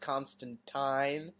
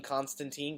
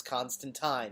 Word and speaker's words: Constantine: someone actually calls him Constantine because it's spelled phonetically and he goes no it's Constantine it rhymes with line well I'm sorry that's